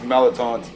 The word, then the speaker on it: Melatauns: yeah so we do we did it the way New Orleans people say it and the Louisiana people say it it's melatons phonetically speaking yes and uh and